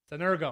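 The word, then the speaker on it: συνεργέω: Try to say it like it's spelled. Ergo is where we get the word energy. Sun means with. So when we put the word sun and ergo, how are we going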